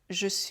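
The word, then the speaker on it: je suis: जेई सुइस - जे' चुइस। हम मुश्किल से जेई का उच्चारण करते हैं और एएम एक बन जाता है।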